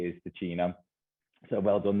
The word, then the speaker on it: Ticino: Right now, I'm currently in Switzerland, and you did pronounce it correctly. It is Ticino.